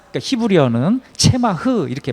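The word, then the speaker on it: צמח: 기름 부은 자 둘은 대제사장과 왕을 뜻하는 이 싹, 그러니까 히브리어는 체마흐 이렇게 발음하는데, 이 싹이라는 것은 메시아를 말하는 것이고, 이 메시아는 두말할 것 없이 대제사장이시며 왕이신 예수 그리스도, 이분이십니다.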